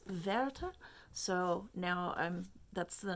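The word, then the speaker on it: Werther: sorrows of young verta yeah it's verta so now i'm that's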